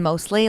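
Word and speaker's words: Mosleh: Mlesh. Oh, close. Uh, mostly. Mostly. So, Panta mostly. Pan like Santa with a P and then mostly like kind of like mostly awesome but more so crazy.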